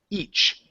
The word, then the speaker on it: each: want to work on that CH sound it's ich instead of ish okay so it's ch a hard sound you're G to push and then stop each each other each other